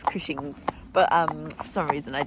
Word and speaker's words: Cushing's: Last time in the vlog I said cushion tested. I do know it's Cushing's, but for some reason I just said it wrongly.